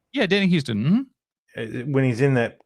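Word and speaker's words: Huston: Is it pronounced Houston? Yeah, Danny Houston.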